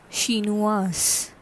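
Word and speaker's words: chinoise: the pronunciation becomes shinua here s is pronounced because an extra e is added at the last and in french we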